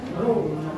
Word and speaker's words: rho: Ya, itu tidak P ya, tapi namanya adalah rho. Ya.